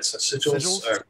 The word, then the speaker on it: sigils: Sigils?